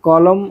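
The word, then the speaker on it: column: एलुमनी देखिए Ottoman autumn कॉलम और सोलमन यहां इसमें अंतिम अक्षर एन जो है वो आपका साइलेंट रहता है। इनमें ऑटम, कॉलम और सोलम पढ़ा जाता है।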